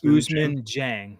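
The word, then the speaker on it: Ousmane Dieng: Usman Jane, right? Is that how you pronounce it? I struggle with that name. Yeah, Usman Jang. Yep.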